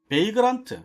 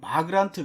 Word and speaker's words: Vagrant: 자, 그 다음에 베이그란트, 뭐 어떤 분은 바그란트 그러기도 하는데 저는 이제 베이그란트라고 읽습니다.